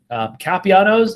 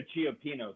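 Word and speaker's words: Cioppino's: Did not agree with us at all, and so we're just like, go to Chiapinos, because that's the actual way that you pronounce the name of that place.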